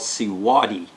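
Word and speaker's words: Siwode: This company is called Siwadi. It's spelt, hang on, let me get the box.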